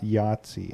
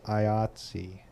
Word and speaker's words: IATSE: It's not Yahtzee, it's IATSE. Yeah, support your local unions,